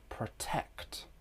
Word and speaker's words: protect: Let's look at a word protect. Protect. Listen carefully. The second syllable is stressed.